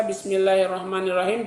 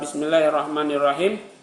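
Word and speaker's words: بسم الله الرحمن الرحيم: arrahim nam jadi ee bismillahirrahmanirrahim ya artinya Ya, dengan menyebut nama Allah yang maha murah lagi maha penyayang. Tapi cara membacanya adalah bismillahirrahmanirrahim. Jadi di bismillah panjang kemudian arrahman panjang arrahim pun demikian.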